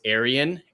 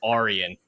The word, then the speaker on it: Aryan: publishers a lot because my main character's name is Aryan, and they say no, you need to say the pronunciation is Aryan. Just like I know I mean, like I get what you're saying, but it is an actual Greek name that was pronounced this way, and it's that his